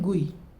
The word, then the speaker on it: GUI: GUI को गुई, क्या बोलते हैं? गुई। इसे हम प्रोनाउंस करते हैं, ग्राफिकल यूज़र इंटरफेस की शॉर्ट फॉर्म होती है GUI, उसे हम प्रोनाउंस करते हैं गुई।